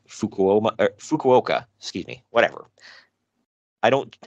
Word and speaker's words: Fukuoka: Junior heavyweight title shot at next month's huge fukuoa Dome show I think I pronounced that right Fukuoka excuse me whatever I don't I don't Japanese